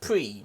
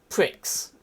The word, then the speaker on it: Prix: telling her that it's it's French and it's pronounced pre not pricks because it is spelled p-r-i-x you pricks yeah pretty